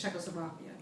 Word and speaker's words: Czechoslovakia: You would never been able to pronounce that. It's Czechoslovakia.